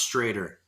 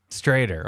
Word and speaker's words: Stroeder: butchering it is it's stroder right it's written schroeder but way back in the day there used to be two dots on the o so it's pronounced straighter straighter okay i got you